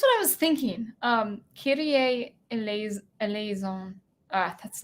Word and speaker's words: eleison: Eleison. I don't think I'm saying that right. Eleison, I think.